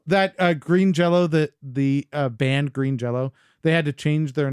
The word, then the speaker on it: Green Jelly: Which, did you know that Green Jello, the band Green Jello, they had to change their name so that it is now spelled Green Jelly, but it's pronounced Green Jello.